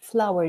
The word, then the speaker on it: flour: But the second one has exactly the same pronunciation. It's written in completely different form. But this is the white powder that you use for making cakes or pasta or any kind of dough. How much flour do you need for chocolate cupcakes?